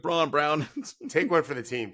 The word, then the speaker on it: Braun: Can someone tell Christian Braun to change the spelling of his last name or just change how we pronounce it? No. Come on now. You see Braun Brown.